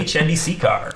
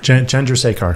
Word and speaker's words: Chandrasekhar: Jay Chandrasekhar. Chandrasekhar. Chandrasekhar. Yeah. I was going for the Preston Lacey pronunciation.